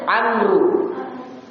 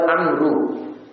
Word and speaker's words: Amru: Munzir bin Amru. Bin Amru. Boleh juga dibaca bin Amr, tapi bacanya lebih kuat Amru.